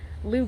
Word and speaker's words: Leu: gardens here in winter park florida again lou is spelled l-e-w i'm sorry l-e-u i think i've been in the heat too long lou gardens l-e-u so if you're here in orlando